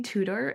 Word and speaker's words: Tudor: Chloe, you Chloe Tudtor. Am I pronouncing your last name properly? Yes. Chloe Tutor, you're I love your last name.